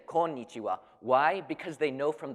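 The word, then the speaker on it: こんにちは: konichiwa it's it's pretty it's pronounced as an N rather than an M but I've never heard anybody say come mitsuwa people say konichiwa why because they know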